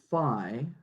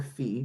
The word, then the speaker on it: phi: t is equal to phi, or phi, depending on your preferred pronunciation, phi t comma t naught x of t naught, where here's what we're going to say.